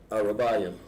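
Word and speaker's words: ארבעים: Arabayim. Let's spell it right.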